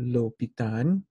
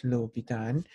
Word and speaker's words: L'Hôpital: a straight word here it looks like hospital but this thing is called lopitan okay so it's going to be low be done so the pronunciation is lobitan and you see and